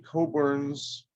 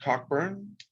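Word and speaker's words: Cockburn's: and this is a coburn's ruby port uh some of those port names are little the porthouse names little difficult to pronounce but it's coburn not cockburn this is their fine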